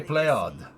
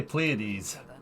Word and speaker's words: Pléiades: of the enlarge yeah they say play odd but we say we say Pleiades whatever we're probably not saying it right man play it's now